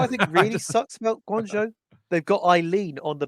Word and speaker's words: Guangzhou: Although I am happy that more people are pronouncing Guangzhou properly, because remember there were like people kept saying like Guangzhou.